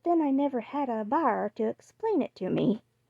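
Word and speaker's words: Bhaer: at its horrid name it isn't pronounced either bear or beer as people will say it but something between the two is only Germans can give it I'm glad you both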